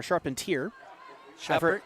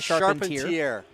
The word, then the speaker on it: Charpentier: Or Charpentier. I've heard either pronunciation. It's fine. Charpentier is his name.